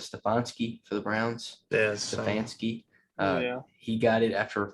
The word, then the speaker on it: Stefanski: Who's going to be the guy that, like last year, I can't pronounce his last name. Is it Stefanski for the Browns? Yeah, Stefanski.